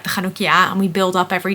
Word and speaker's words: Chanukkah: So you will probably have seen either a meme or just noticed that people spell Chanukkah differently. Now, being Dutch and pronouncing the ch as that sound, I spell it CH.